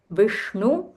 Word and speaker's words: Vishnu: Vishnu, Sh, this is Murdhanya Sh, so you'll have to roll your tongue. Vishnu, Vilasini, Jishnu, Nute.